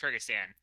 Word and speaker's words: Kyrgyzstan: Or is it Kyrgyzstan? Yes. Kyrgyzstan.